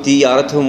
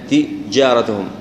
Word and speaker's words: تجارتهم: ناخذ مثال هنا لحرف الجيم قد تكون تجارتهم يعني ننطقها بتفخيم وايضا نظهرها ما نقول تيارتهم ولا تجارتهم لا تجارتهم ايضا ندخلها.